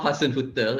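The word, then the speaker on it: Hasenhüttl: far okay educate us okay it's a ralph hassan hotel he's actually a very good manager from my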